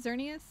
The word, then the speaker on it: Xerneas: hand in hand my second one would be xerneas is that how you pronounce it xerneas yeah yeah so I can confirm my expert